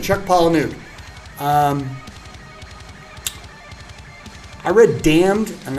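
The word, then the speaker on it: Palahniuk: I don't even know how how I never knew how you pronounced it. I'm actually using it to raise my mic. Paul. Yeah, Palanuke. Chuck Palanuke.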